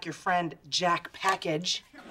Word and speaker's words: Package: And you didn't use an obvious alias on your application, like your friend Jack Package. It's pronounced Package.